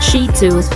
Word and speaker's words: Shih Tzu: or given away the breed name not to be confined with the four of massage shiatsu is pronounced shitsu the name comes from